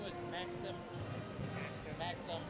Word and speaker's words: Maxim: Maxim, like it's spelled with an I, but it's pronounced with a U.